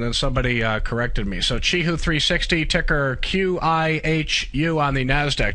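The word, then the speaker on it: Qihoo 360: It's like chee-hoo, kind of the opposite of achoo. Yeah, I know. I used to pronounce that kee-hoo all the time myself, and then somebody corrected me. So Chee-hoo 360, ticker QIHU on the Nasdaq.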